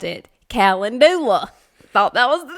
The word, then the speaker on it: calendula: that one in here because we both thought that it was pronounced that way and then later on um growing that particular flower I came to find out that was not how you said it so calendula it sounds so much